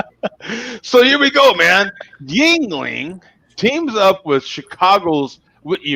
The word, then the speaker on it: Yuengling: remain independent right but yingling is coming west kids hey west coast beer lovers it's pronounced ying ling america's oldest movie is